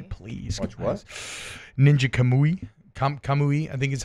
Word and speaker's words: Kamui: Kamui, I think is how you pronounce it.